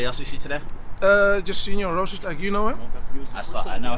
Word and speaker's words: Rozenstruik: How do you Problem, pronounce I'm that? joking. Jairzinho Rozenstruik. Losing. Don't worry about it. Don't worry about it. I was joking. Hey, no, I want to learn. Rozenstruik. What is it? Strike. Rozenstruik.